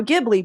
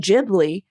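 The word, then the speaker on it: Ghibli: jibli yeah because like it's Studio gibli But If Miyazaki saying jibli then everyone's like you guys we have to say jibli if he says jibli because it's his Studio but I'm just like I don't know man I'm saying gibli it's like GIF or GIF that's funny because I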